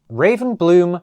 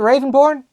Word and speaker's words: Ravenbloom: Blades, Nori Fighting Pit, Raven Bloom Student. Oh, is it Ravenborn? Is it Ravenborn? It is Ravenbloom. I have been saying it right this entire time.